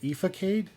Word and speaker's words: Ethicade: And yeah, and his channel's called, it looks like it's spelled Ethicade, but he actually pronounces it Efacade.